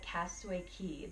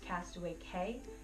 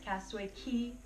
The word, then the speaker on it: Castaway Cay: now you'll know it's castaway key like a house key like ke Y just